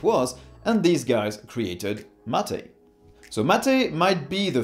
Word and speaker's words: MATE: is written mate but it's pronounced mate because it derives its name from a tea-like beverage it was created in